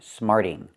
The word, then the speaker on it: smarting: Smarting. He's smarting off to his teacher. Smarting off. Again, the t changes to a fast d.